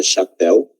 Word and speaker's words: chapéu: Exemplo, esta palavra chapéu significa sombrero. Chapéu tem duas sílabas, miren, está separado por sílabas. Cha, uma sílaba, e pel, outra sílaba. A sílaba tônica é la pel, né?